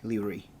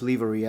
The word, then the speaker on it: livery: and there it is with the arizona one leery by the way it's pronounced livery i looked it up online what can i